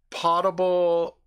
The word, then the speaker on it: potable: only one team potable P o ta be like I would almost say pot able as a as opposed to potable and Chipotle yeah that's